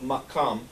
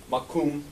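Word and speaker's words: maqam: the Caucasus when the idea of makam as the Arabs pronounce it or makum as the as the Hebrews ancient Hebrews pronounce it mugam as the aeran is pronounce it what was there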